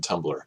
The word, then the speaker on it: Tumblr: pronounced uh or it's it's spelled tuu MBL LR there's no e in Tumblr and so if you're